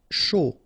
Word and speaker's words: chaud: Chaud. Final D not pronounced, and then when you combine this C and H, you get the sh sound. A and U, O.